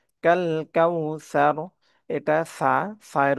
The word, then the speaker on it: কাউসার: ত আলিফ টেনে পব না আতনা ইনা কাল কাউসার কাল কাউসার এটা সায়ের উচ্চারণটা নরম হবে সার সার ইনাকাল কাউসারনা উচ্চারণটা